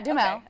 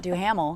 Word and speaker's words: Duhamel: Yeah, Duhamel. Okay, cool. Duhamel. It was just so funny that he even has his own commercial. He's like, this is how we pronounce it. Definitely not Duhamel, because that's how it's spelled too.